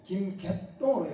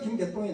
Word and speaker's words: 김개똥: 질자가 이게 사이옷 발음나거든요. 개질동이 김개똥으로 읽어야 됩니다. 정확하게 김개똥이 나와요.